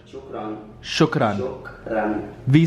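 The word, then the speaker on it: شكرا: like pronunciation Shukran.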